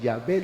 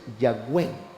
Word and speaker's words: Yahweh: Entonces, allá en Israel no lo pronuncian Yahvé, dice Yahweh, que en latín es Jehová.